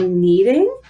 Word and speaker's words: kneading: So what we're going to do is called kneading. It starts with a silent K.